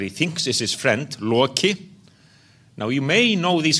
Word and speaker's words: Loki: Yes, Thor is there, very prominent, and Loki as well. And by the way, it is Loki, not Loki, as they pronounce it in Hollywood.